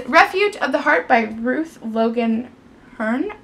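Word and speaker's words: Ruth Logan Herne: The next book that I got is Refuge of the Heart by Ruth Logan Hearn, I believe is how you say her name.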